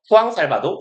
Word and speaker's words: Juan Salvador: 그리고 뭐 영어식으로는 주안 살바도라고 읽을 건데 보통 얘가 아르헨티나에면 포어를 쓸 거고 아니 저기 스페인어를 쓸 거고 그럼 보통 후앙이라고 읽으면 돼요. 후앙 살바도 정도가 될 겁니다.